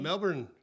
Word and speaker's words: Melbourne: As I said, they have a That's not how they say it. How do they say it? Melbourne. Mel Melbourne. Melbourne. Very distinct.